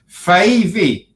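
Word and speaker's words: Fyvie: So it's Fivey.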